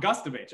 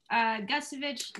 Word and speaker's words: Gustavich: Gustavich. Oh, my Thank God. Thank you. Hey, that's Sorry. Okay. It takes practice. Gustavich, like a gust of wind.